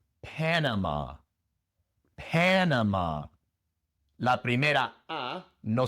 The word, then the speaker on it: Panama: Pero el acento va en la primera sílaba. En lugar de Panamá es Panama.